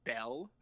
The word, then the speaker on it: 3ELL: The artist, I believe the name is pronounced Bell, but it's spelled 3ELL, which I think is said as Bell, but he is incredible.